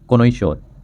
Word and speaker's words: connoisseur: तो उन्हें कहते हैं कोनोई श्योर।